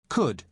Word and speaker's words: could: listen to the pronunciation could could you spell it c o u l d but the letter L is silent could now listen to